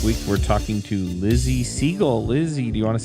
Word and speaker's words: Siegle: say hi hey now I hope I said your name right I guess could be pronounced another way so you can tell me if I'm wrong it's fine that's perfect alright do you want